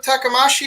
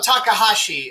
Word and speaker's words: Takahashi: look how look what was her name rumo takamashi did I say that correctly uh the author of ramna and Yasha I have no idea what that is um no Takahashi I I I miss I mispronounced you're talking